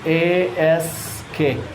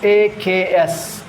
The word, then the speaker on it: ask: Then then it becomes a S K suck suck suck sucker sq. Otherwise they will pronounce a ks which is wrong.